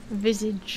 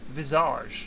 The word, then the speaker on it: visage: do you pronounce it Visage that's the American pronunciation Hoxie I hate to tell you is it really yeah it's a French word isn't it Visage is it yeah it means face yeah I'm pretty sure